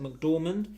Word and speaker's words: McDormand: Is that how you pronounce it? McDormand?